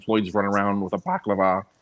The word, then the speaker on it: balaclava: Brian can't walk 6 feet without having a cardiac arrest, and Floyd's running around with a balaclava, how you pronounce it?